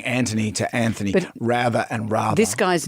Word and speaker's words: Rather: Rather. In Australia, we say Rather. But if it's his name, so he would say Rather. Americans pronounce it Rather.